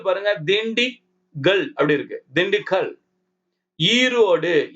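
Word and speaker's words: Erode: ஈரோடு ஈ போட்டு RODE போட்டிருக்காங்க. ஈரோடு. நம்ம டபுள் இ போடணும்னு சொன்னோம் இல்லைங்களா? இங்க பாருங்க ஒரு ஈ தான் போட்டிருக்காங்க. அந்தாண்ட பாருங்க ஒரு ஈ வருது எக்ஸ்ட்ராவா. அது சைலண்ட்.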